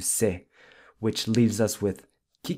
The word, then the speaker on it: cê: And then we also saw how você gets shortened to se, which leaves us with que você fez?